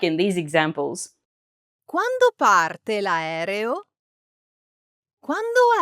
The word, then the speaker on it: quando: Quando in Italian means when. But if you don't know this song, just remember that quando kind of sounds like saying when do in English.